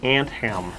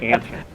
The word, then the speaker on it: Anthem: to clarify this that it's actually Anem like like pants on an ant that being that are too long and they've shortened them with an ant I've been mispronouncing time